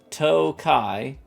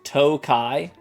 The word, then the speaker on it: Tokaji: courtesy of the Hungarian Tokaji, pronounced Tokai. Have I been saying it wrong this whole time? It's literally pronounced Tokai.